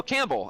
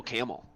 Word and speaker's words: Campbell: like perll no honestly the first time I got to Youngstown and like saw that area I I was like oh Campbell and they were like no camel I'm like that clearly says C Campbell like there's a bee